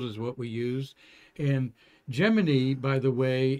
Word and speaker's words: Gemini: what we use in Gemini by the way is the way NASA said to pronounce the program like Jiminy Cricket yeah they said in